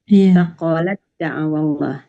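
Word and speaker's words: أثقلت دعوا: Sakolat. Jadi yang dibaca itu da ya, dimasukkan ke huruf da. Sakolat da'awallah. Ya.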